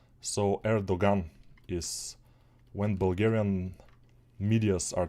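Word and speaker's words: Erdoğan: erdogan of course erdogan I think it's pronounced erdogan we call it in Bulgaria because you know you are not saying the the G but we are saying it here so erdogan is when Bulgarian Medias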